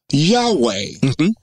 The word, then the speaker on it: Yahweh: will say to you many of us Hebrew people pronounce it differently correct correct with the vowel points which you don't know anything about uh Yahweh uh without the vowel points it's yahuwah and some will even pronounce it the point being